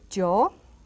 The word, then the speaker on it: yo: Pronombres, there you have it. We start with yo, with a strong Y pronunciation, yo, tú, which means you,